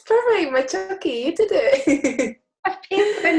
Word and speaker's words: Macciochi: Jenna Macciochi, and I think I've said your surname wrong. Have I said it Oh right? no, it's perfect, Macciochi.